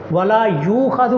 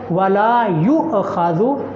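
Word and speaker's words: ولا يؤخذ: ولا یؤخذ پڑھنا یہ غلط ہے. صحیح تلفظ کیا ہے؟ ولا یؤخذ جھٹکے کے ساتھ.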